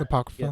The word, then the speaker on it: Apocrypha: fascinating, and the Apocrypha too. Or did I pronounce that wrong? yeah, Yeah, Apocrypha.